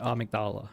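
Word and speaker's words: Amygdala: ridiculous okay this is a shortcut is this amigdala going to try to grab me I guess not kind of hate pronouncing it a mdala I don't know why but that's the official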